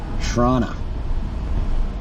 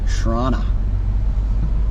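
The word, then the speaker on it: Chrawnna: in front of us spelled c-h-r-a-w-n-n-a shrana that's what they refer to Toronto as spell it with a C shrana and they got the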